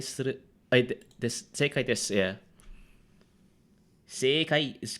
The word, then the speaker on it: 世界: Sekai is correct. Sekai is. Oh, okay, got it. You pronounced the e at sei.